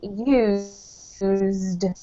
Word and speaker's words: used: This one here is used. Use. Perfect. Yep. Very good. So it's a Okay. real Z To sound.